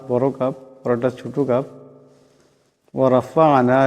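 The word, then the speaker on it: ورفعنا: ওয়ারাফা'না, এখানে আইন সাকিন, আওয়াজটা গলা থেকে আনতে হবে।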